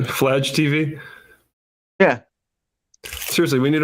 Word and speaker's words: Fladge: it's pronounced Fladge. Vlad, right? Fladge TV.